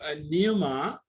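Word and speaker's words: πνεῦμα: And the Greek words are pneuma, it is pneuma, and logos. So the English word is pneumatology, where P is silent. whereas the Greek word is pneuma, where we have to pronounce P.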